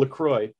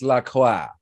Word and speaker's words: La Croix: cross okay so yeah if they're gonna use a french word they're gonna they should pronounce it in a french manner seriously this is where